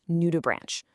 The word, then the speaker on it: nudibranch: It's pronounced nud branch. Let's try it together. New dbranch.